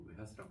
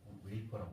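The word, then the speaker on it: wafer: 과자 이렇게 해놨는데 잘라놓고 웨하스라고 과자 있잖아요. 그 일본 사람들이 발음을 웨하스라고 해요. 근데 스펠링은 W-A-F-E-R, 웨이퍼라고 해요.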